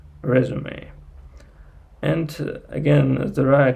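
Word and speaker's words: résumé: uh when you when you write down this word you use this stress sign over the last uh over the last vowel like resum but uh you pronounce it like resume resume and again there are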